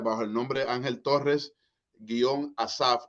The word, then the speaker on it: Asaph: mi música la puede encontrar en Spotify bajo el nombre Ángel Torres Asaf. Asaf se escribe estilo inglés ASAPH.